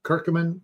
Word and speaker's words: curcumin: that's extracted from it called kurcumin or kirkamin if you want to pronounce it that way and that my friend